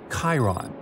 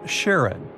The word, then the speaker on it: Charon: the most mysterious one Chiron also pronounced Sharon so you can pronounce it however you like I'm going to go